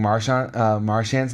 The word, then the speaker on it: Marchand: And then I've been saying Marchand's name wrong. It's actually Marchand. Yep. So I've been saying his name. He's French.